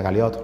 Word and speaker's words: Galiot: Entre apellidos de origen francés tiene Bernier, sería Bernier, Galiot, se pronuncia Galiot, los apellidos se han